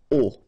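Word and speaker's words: aux: at all, and then à plus les will become o, A-U-X, but then remember that phonetically it's o.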